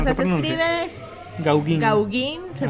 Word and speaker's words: Gauguin: O sea, se escribe Gauguin. Se pronuncia Gauguin.